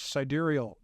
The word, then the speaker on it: sidereal: Then it's called, I think the right way to pronounce it is sidereal tracking.